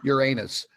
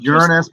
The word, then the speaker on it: Uranus: This is the shot from Uranus. Actually, it's pronounced Uranus, but that's funny because we can always say, it's always swamp gas coming out of Uranus.